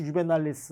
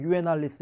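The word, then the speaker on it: Juvenalis: 뭐 또 V를 W처럼 발음하는 유에날리스 이렇게 발음하시는 분들도 물론 계십니다.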